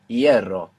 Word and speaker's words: hierro: So they look totally unrelated, but if you know that the F became a silent H and that the E split into IE, you can see the connection between hierro and ferrocarril.